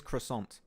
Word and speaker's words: croissant: say that in English so if you want to say in English the proper way is croissant that is that is